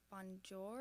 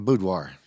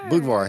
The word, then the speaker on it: boudoir: there's bikini models yes not sure how to say it like bonjour I think is how you say it a Boudoir oh Boudoir see you're learning something okay